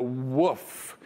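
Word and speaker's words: WOF: Except they often like to pronounce it not waff, but woof, because they describe that flavor as the taste of wet dog hair.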